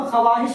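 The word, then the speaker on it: خواہش: जैसे ख्वाहिश ख्वाहिश में जैसे ख्वाहिश मिसाल के तौर पर ख्वाहिश लिखते तो खवाहिश लिखते मगर पढ़ते हैं ख्वाहिश। ये वा पढ़ा नहीं जाता। ये वाहता है साइलेंट रहता है।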